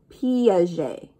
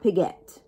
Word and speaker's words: Piaget: um swiss right so we want to think of target but tarjay piaget okay that we pronounce it a little bit differently than we see it not piguet piaget john piaget swiss